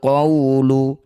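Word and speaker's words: القول: Waw sukun didahului fathah, bertemu huruf hidup kemudian dihentikan, disebut bacaan madlin. Cara bacanya bunyi waw sukun, baca dengan lembut. Panjangkan 6 harokat, huruf terakhir lam sukunkan. Walakin haqqal qawlu. Setelah berhenti, walakin haqqal qaul.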